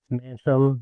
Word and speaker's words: Manshaem: a special guest per usual uh Mr Manheim did I say your last name right manam but um I've been hearing it butchered for many many years so you did